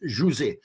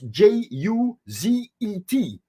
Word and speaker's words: José: So in my school days, my name was Juzet, because that in French, when you pronounce that in French, that sounds like José.